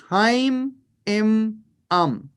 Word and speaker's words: Haim Im Am: Yes, it is Haim Im Am. 3 syllables. Haim, Im, and Am.